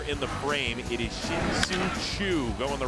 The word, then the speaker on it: Shin-Soo Choo: Well, not if you say his name like that. Yeah, I mean, well, see, there you go. Let's hear it again. It's Shin-Soo Choo.